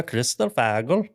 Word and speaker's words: kristallfågel: Vildhjarta, kristallfågel.